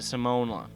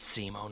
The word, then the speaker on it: Simon: Okay, so you're probably wondering when the hell we get to Simone. Well, Evan was a fan of Gurrenlagann, I have no idea if I'm pronouncing that right at all, and decided it